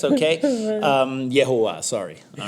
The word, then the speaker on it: Jehovah: But it is a line and a field that could only be crafted by the hands of Jehovah. All right, okay? Yehovah, sorry.